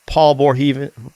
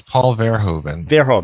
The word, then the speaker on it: Paul Verhoeven: from a lot of paul bohr heaven i don't know before he you like to know how to pronounce it because these dudes happy to tell you paul's his name is paul verhoeven thank you buddy uh